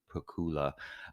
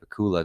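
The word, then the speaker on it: Pacuła: officer or whatever uh Joanna I think her last name is pronounced Pula uh the Polish actor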